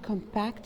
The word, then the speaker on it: compact: verb a compact compact thus we stressed the last syllable and another we stress the last over and we said compact that means to press